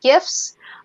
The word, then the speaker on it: GIF: famous bit of mine from samurai um what gifs and gifs and gay pegs uh but that's how it's pronounced gif it's gif i don't care what